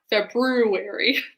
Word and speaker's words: February: And I always have to pronounce it that way in my head so that I remember to put the extra R in there. February.